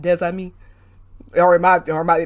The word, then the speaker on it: des amis: And it's the idea that you have a word where usually the final consonant is silent. But when it's followed by a vowel, you will pronounce that final consonant.